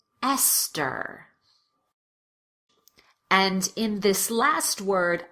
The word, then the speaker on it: Esther: The most common exceptions are words that are spelled with TH, but pronounced as t, or the T sound. Let's go through them together. Repeat after me. Thomas. Teresa. Tie. Time. Thames. Esther.